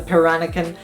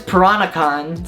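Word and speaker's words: Peranakan: like the piranha can am I even pronouncing the right paranoken piranakin parano you know I'm gonna look this up so apparently it's piranacon so I have been pronouncing it wrong this entire time and I'm very excited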